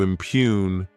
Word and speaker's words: impugn: To impugn, this word has 2 syllables, and the stress is on that second syllable.